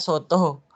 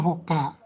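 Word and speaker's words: 外: Sebelumnya saya bacanya soto. Kadang-kadang soto, kadang-kadang dibaca hoka. Ya, di sini hoka nih contohnya ini.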